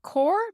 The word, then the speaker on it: carr: to use it so for example we would have core but we would say air on Gore and we'd put in our Arrow air on core on the car so